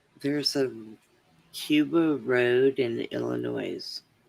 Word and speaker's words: Illinois: There's a Cuba road in Illinois. I wasn't even aware of that. S is silent, Brenda.